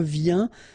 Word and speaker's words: viens: Je viens Final S not pronounced, okay? And when you combine this IEN, you get this yen, yen.